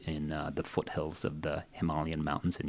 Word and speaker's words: Himalayan: the foothills of the Himalayan mountains and yes that's the way it's pronounced in English you know there's a